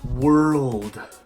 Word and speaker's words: world: number five world world pusher word world hey yo la la how masa but what really makes this word difficult is the R before the L and the D after the L like emotions all about